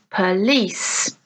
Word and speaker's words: police: Police, police. Okay, so let's listen again to stress on the first syllable. We have market, letter, dinner. Stress on the second syllable, tonight, exam, police.